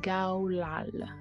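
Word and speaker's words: גלל: ici traduit par recommander c'est Galal prononcée Gao LAL qui signifie rouler rouler au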